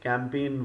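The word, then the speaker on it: campaign: में यूज होता है तो कैंपेन में यह जो आपका जी है यह साइलेंट रहता है दिस इ यूज एज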